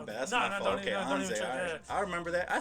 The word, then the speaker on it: Anze: Like, so it's pronounced Anze. Anze, yeah. Okay, my bad. See, I was butchering it. No, don't even trip. Everyone does. I thought it was Anze.